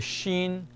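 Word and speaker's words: ش: scen s the same shape is the letter Shen and this one has three dots above Shen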